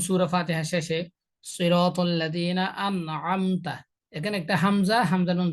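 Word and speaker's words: أنعمت: তাহলে আইনের উচ্চারণটা যদি আমি হামজার মতো করি, আন আম বলি, তাহলে সেটাও ভুল হবে।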